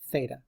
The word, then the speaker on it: theta: the Greek letter Theta right that's how you pronounce it Theta and you sometimes we use different variables but that's the most common for an angle is Theta okay now and then we Define okay we